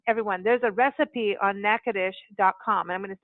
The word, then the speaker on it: Natchitoches: okay number one everyone there's a recipe on NACA desh calm I'm going to spell it out again na TCH i TOC HGS